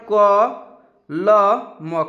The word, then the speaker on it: कलम: तो एक साथ लिखने पर कलम, कलम, कलम उच्चारण कीजिएगा तो कलम, क के साथ अ आएगा, ल के साथ अ आएगा, लेकिन लास्ट में म आ रहा है ना तो उसके साथ अ नहीं आएगा क्योंकि वो अकेला पड़ गया, ठीक है।